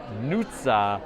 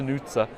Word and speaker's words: Nutsa: It's Nutsa. I always say it wrong. It's not Nutsa, it's Nutsa.